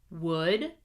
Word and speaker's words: would: Skill practice: silent L. Do not pronounce the L. Here we go. Would, should, could, walk, talk, half, chalk, salmon.